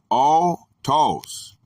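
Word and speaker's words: αὐτός: The Greek word is going to be autos, pronounced o-tos, from the particle ao,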